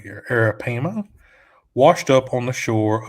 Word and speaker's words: arapaima: out there a 10-foot arapaima let me just pronounce this correctly here arapaima washed up on the shore of cape corals